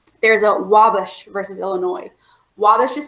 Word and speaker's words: Wabash: Wabash is spelled W-A-B-A-S-H, Wabash.